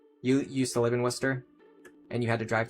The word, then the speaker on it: Worcester: They would say like Warchester or something. Yeah, it's pronounced Worcester.